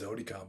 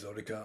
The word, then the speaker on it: Jotika: is known in burma he's mahamyan who is zodika because jay is pronounced like zee in with a burmese accent so mohammyan who's zodica i knew him and i met with him